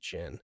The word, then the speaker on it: Zin: I didn't realize he wasn't Zayn until I was going through the uh uh what's that website called?